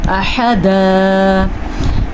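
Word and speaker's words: أحدا: احدا میں کیا کرنا ہے ہم نے حا کے تلفظ کا دھیان رکھنا ہے, حمزہ کی مقدار چھوٹی رکھنی ہے اور دال دو زبر دن کو وقف کی وجہ سے ہم دا پڑھیں گے احدا.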